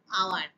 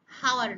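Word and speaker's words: hour: 1 ঘন্টা অ্যান আওয়ার, উচ্চারণ কিন্তু হাওয়ার নয়।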